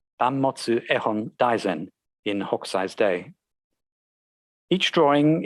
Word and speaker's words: Banmotsu Ehon Daizen: There is evidence that the title in Japanese would have been pronounced Banmotsu Ehon Daizen in Hokusai's day.